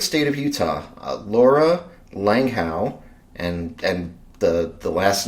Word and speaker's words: Langehaug: Uh the the the great state of Utah, uh Laura Langhow.